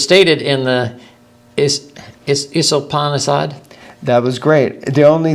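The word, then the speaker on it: Īśopaniṣad: add is that s the second s has an accent over it which means that it's pronounced like a sh instead of us you mean the first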